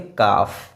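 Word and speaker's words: calf: काफ।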